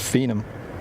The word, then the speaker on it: Phenom: be honest it's a Phenom 300 yeah that's cool it's pronounced phenom Phenom Phenom like phenomenon phenomenon pc24 it wasn't